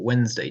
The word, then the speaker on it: Wednesday: So it would be natural for Wednesday to be reduced from 3 syllables to 2. And it is common in English words for unstressed syllables to be lost. For example, the word chocolate is spelt like it has 3 syllables, chocolate, but it is normally pronounced chocolate. However, it's hard to pronounce Wednesday with both Ds but only 2 syllables.